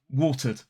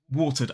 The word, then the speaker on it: watered: Now, water in a modern British RP accent ends in a schwa, water, water. Now, the schwa, of course, is a weak, unstressed vowel sound, but it's still a vowel sound, which means we use our vocal cords. It is a voiced sound. So water, the past simple of water, for example, watered the plants, becomes watered. We add the d phoneme. Watered, watered.